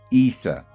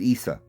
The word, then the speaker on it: Isa: in the Christian Greek letters, his name was pronounced Isa and not Yeshua or Jesus or Yahashua or Yahshua or anything else. The syntax on the end, the us, was not pronounced. It was Isa.